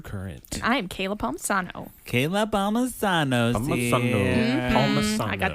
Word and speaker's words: Palmisano: And I am Kayla Palmisano. Kayla Palmisano. Palmisano. I got that long... How do you say it, Patrick? Palmisano.